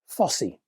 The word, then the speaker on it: Fosi: And that's how you pronounce the name of this company FSY.